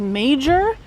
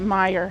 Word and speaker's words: Meijer: the west coast and we do not have Meyer out there. So when we first moved here and I read it for the first time, I thought it was major and then everybody's like, "Oh, it's you can